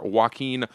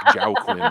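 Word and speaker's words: Joaquin: authored by assembly member waen Arambula I'm glad I figured out how to pronounce waen because I was saying like Jiao Quinn for a real long time but I moved to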